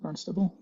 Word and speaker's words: Barnstable: That's how you pronounce it, Barnstable.